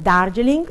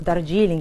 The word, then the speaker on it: Darjeeling: Il primo che sentiremo è proprio dedicato a questo mondo femminile, viene dalla zona del Darjeeling, o Darjeeling a seconda di come preferite pronunciarlo, ed è il tè nero indiano.